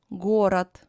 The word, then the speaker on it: город: Д is pronounced as T, город, сад, and so on.